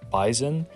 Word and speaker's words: Bizon: be talking about the beezon now I've been told in the past this is pronounced bison however so yeah I'm gonna call it the bizon for that reason but